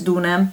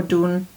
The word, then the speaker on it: Dune: The first one is Ambra, this one is Dune, or Dune, depending on how you want to pronounce it in the Italian or the English way.